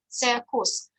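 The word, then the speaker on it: caecus: Before the graph we pronounce s, and it's also a good example because here you can see the second way of pronunciation. Cecus. I pronounce this c like k because it is before vowel u, and before vowel u we pronounce like k.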